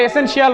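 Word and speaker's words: essential: আমরা এসেনশিয়াল বলি, কিন্তু তোমাদের আগের ক্লাসে বলছি আমরা শিয়াল বলবো না, এর উচ্চারণ কি?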